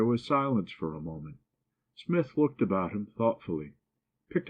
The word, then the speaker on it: Psmith: Smith. The P is silent.